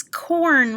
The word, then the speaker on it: corn: and number two is corn repeat corn good or like horse represented with two letters corn is spelled c-o-r-n corn combination o-r in